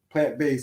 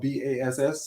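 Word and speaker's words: Plant Bass: So we came up with the name plant based, and it's spelled BASS. Some people like to say bass. It's not a fish.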